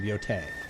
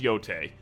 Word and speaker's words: Yotei: I'm not well versed on Japanese regions and how to pronounce the names, but I think that's how it's pronounced, is Yotei.